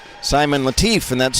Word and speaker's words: Latif: Simon Latif, and that's spelled L-A-T-I-F.